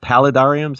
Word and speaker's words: paludarium: But we normally just call it paludarium. I've heard paladrium. I've heard paludarium.